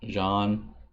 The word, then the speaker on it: Jean: of the names wrong Jean is pronounced John and me me me